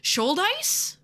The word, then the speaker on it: Shouldice: Shouldice? Does that sound right? Andrew Shouldice?